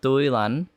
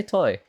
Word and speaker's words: Toilanh: been going on uh you can uh you can pronounce as uh duilan uh or you can you can just say toy uh that's normally easier